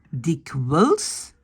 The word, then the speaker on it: dikwijls: Attention, quand le IJ est en fin de mot, on le prononce comme E, comme dans le mot le.